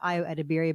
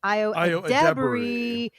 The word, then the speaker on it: Ayo Edebiri: And it is indeed the summer of not of Ayo Edebiri, but of Ayo Edebiri. Accent on the second syllable.